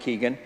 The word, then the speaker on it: Kogan: Charles Reed Morgan Bradshaw David kogan pronounced Keegan and I see them